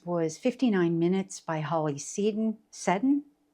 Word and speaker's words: Seddon: One of the add-ons was 59 Minutes by Holly Seddon. Seddon, I think is how that's pronounced.